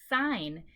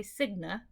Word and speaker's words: sign: For example, the word sign, ends with a GN. Sign does not say signa, it says S-I-N, because we do not pronounce the G.